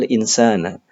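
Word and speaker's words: الْإِنْسَانَ: Kami membacanya alinsana. Mengapa dibaca alinsana? Karena didahului oleh partikel inna dan berfungsi sebagai isim inna. Jadi setiap isim inna pasti mansub.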